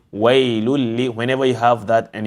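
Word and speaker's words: ويل ل: So it becomes wailul li, wailul li. Do not say wailun li.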